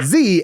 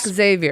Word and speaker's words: Zavior: Zavior. It's not Xavier.